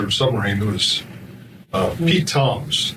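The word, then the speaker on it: Tzomes: Submarine was uh Pete Toms spells his name TZ Mees but he pronounces it Tom's uh we lost uh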